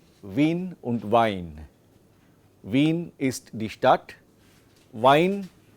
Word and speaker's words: Wein: So weiblich, and this you can make a note of as a standard pronunciation. This is called a diphthong. Okay, this is called a diphthong, a combination of two vowels, and there are other